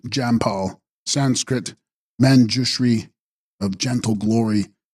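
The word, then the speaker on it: འཇམ་དཔལ: child in her arms and text aam depal pronounced Jamal Sanskrit manri of gentle Glory a fuller Tibetan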